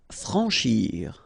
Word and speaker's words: franchir: Franchir. Remember, C and H together. Sh. Franchir. A-N, en.